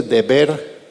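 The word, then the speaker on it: דבר: peste en hebreo verdad ahí puse deber entre comillas Porque así es como se pronuncia la palabra peste en hebreo cosa que la palabra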